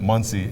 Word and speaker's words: Muncie: His nickname to us was Money, because Money rhymes with Muncie, and he was very dependable.